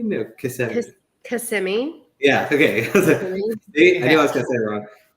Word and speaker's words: Kissimmee: And Kissimmee? No, Kissimmee.